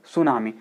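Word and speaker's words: tsunami: Roman लिपि में देखें सुनामी लिखें है तो आप इसे टी से शुरू करते हैं लेकिन पढ़ते हैं इसका उच्चारण क्या कर रहे हैं सुनामी अर्थात यहां पर टी साइलेंट है ऐसे आपने लिखा साइको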